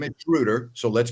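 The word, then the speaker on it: Schröder: His name is Shruder. So, let's pronounce his name correctly.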